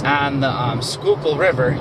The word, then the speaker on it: Schuylkill: And there's a place in Philly called Boathouse Row, and it's on the Schuylkill River. Yes, I said it correctly, Schuylkill, even though it doesn't look like it's spelled that way.